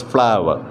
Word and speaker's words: flour: are covered with flower flow you are is pronounced as flower okay flower is uh